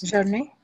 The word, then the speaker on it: journey: Try to cancel the E sound. Just use Y. So journey.